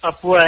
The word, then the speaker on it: Papua: know of west papa how you pronounce it papo papua yeah west papua is where is west